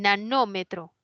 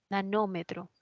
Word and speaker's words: nanómetro: del metro Wow bueno el nanómetro nanómetro No sí es una esdrújula voy a poner Ay